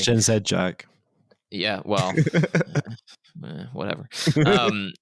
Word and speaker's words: Gen Z: if you look at gen Z or gen Zed it's pronounced gen Zed Jack yeah well whatever